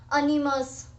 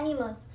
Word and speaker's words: animus: क्योंकि काफ़ी लोग जो है वो गलत प्रोनाउंस भी कर देते हैं, लाइक अनिमस. ओके. सो अनिमस तो नहीं है ये वर्ड, इसको हम प्रोनाउंस करते हैं एनिमस.